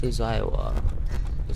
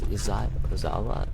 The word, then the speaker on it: Izawa: That's Izawa. That's not how you say his name. It's Izawa.